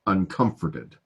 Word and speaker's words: uncomforted: language of poetry but uncomforted the this is on the second syllable uncomforted yeah and we read